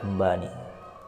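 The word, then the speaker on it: أنبأني: wallahi ambanil Fata ambani bacanya ambani bukan ambani tapi ambaani asalnya adalah ambaani tapi hamzahnya enggak dibaca jadi ambani alfata mislu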